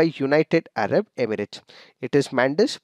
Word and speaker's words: Mandous: is given by United Arab Emirates it is mandus pronounced as Mandos so basically this was named by United Arab